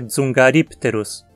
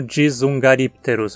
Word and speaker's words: Dzungaripterus: Novamente, a sílaba T não tem requisitos para ser longa. A pronúncia é dzungaripterus. E aqui eu peço para tentar não pronunciar como dzungaripterus, ok? Não tem um I entre o D e o S. É uma sílaba só, dzum, e não duas.